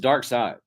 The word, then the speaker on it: Darkseid: Is Darkseid, but it's spelled seed, maybe. Yes, but it's pronounced side.